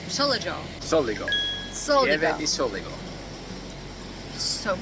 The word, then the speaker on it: Pieve di Soligo: How do you say Pieve di Soligo? Soligo.